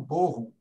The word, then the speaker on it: Bochum: Sobre a universidade onde eu fiz o doutorado, a cidade se fala em alemão Bochum, mas se escreve Bochum, se escreve Bochum.